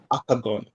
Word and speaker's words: Akogun: how to say it correctly last time it's aagon aagon aagon aagon a all right I got